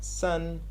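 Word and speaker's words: 森: full of trees and that is pronounced son and there is a word which you take these two characters this characters is pronounced son as we said and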